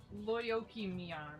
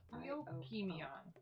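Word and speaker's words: Lyokymion: It is Lyoki-mian. It is I'm like Gonna basically need to April. spell that. Okay. Lyokymyon. Basically April. Lyokym. ION. Lyoki-mian.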